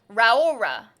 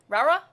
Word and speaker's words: Raora: I default to the Japanese pronunciation because it's easier. There's a Japanese pronunciation? Raora. Raura?